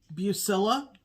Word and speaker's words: Bucilla: It's from Bucilla. Yep. I think that's how you say it. Heirloom collection. It's not Bugala.